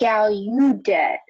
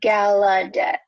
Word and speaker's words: Gallaudet: It's not Gallaudet, but Gallaudet.